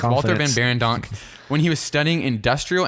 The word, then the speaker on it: Walter Van Beirendonck: He interned for Walter Van Barendonk right? I don't know. I think that's how you say it. It's Walter Van Beirendonck, when he was studying industrial and furniture design